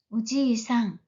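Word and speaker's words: おじいさん: 할아버지는 발음할 때 주의하셔야 됩니다. 우지이상 길게 발음하죠.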